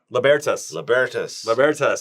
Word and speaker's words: Libertas: Let's pronounce it right. Libertas.